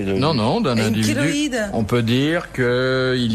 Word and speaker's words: chéloïde: On peut prononcer Non, c'est kéloïde kéloïde.